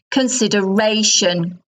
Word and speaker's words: consideration: But the noun is consideration, consideration. So the word stress shifts.